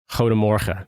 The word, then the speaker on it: Goedemorgen: However, it is pronounced Goedemorgen.